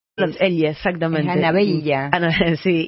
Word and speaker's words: Anabella: Es Anabella.